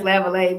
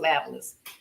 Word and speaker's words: Lavallee: Well, in Louisiana it's Lavallee, but my grandfather, when he moved to Texas, pronounced it Lavalas.